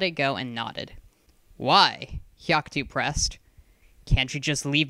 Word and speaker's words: Haku: bit annoyed at this Haku it's pronounced with a sharp hu sound she Shrugged sorry he